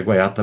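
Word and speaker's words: Guaita: Acho que é Guaiata, porque faz tempo que eu li, muito tempo, eu tenho lá na biblioteca, é Guaiata mesmo a pronúncia.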